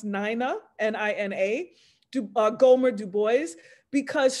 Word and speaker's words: Nina: show a picture of and her name is pronounced Nina n-i-n-a Gomer Du Bois because she's so rarely